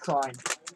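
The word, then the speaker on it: Krein: It's pronounced Crine. Crine? K-R-E-I-N.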